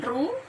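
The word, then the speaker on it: rho: sama dengan ini badannya Run ya bacanya ruh-ruh Sugeng Hai Yani bacanya room hai hai Hai hambatan R = ruh dikali dengan l panjang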